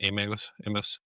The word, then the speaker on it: Emmaus: Emmaus?